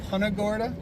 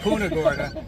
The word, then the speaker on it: Punta Gorda: And if you haven't done it, get down here to punorta. That's how you say it. Absolutely. We've been saying punaga.